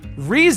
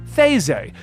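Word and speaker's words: Reze: But if you go down to the Japanese pronunciation, because they pronounce their R's differently than the rest of us, it actually comes up as Theze.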